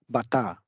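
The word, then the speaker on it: バター: okay butter is again the English word adopted which is pronounced as Bata is butter the generic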